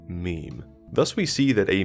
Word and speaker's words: meme: a suitable Greek root but I want a monosyllable that sounds a bit like Gene I hope my classicist friends will forgive me if I abbreviate mimim to mem thus we see that